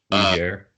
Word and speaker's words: Niger: Niger comes to mind, and that's a very awkward mispronunciation. Be careful, folks. Niger.